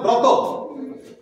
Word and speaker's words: ব্রত: ব্রত এটা বলা হয় এটা সঠিক উচ্চারণ ব্রত কিন্তু আমরা এটা উচ্চারণ করি কি ব্রত ব্রত মায়েরা করে না বিপদ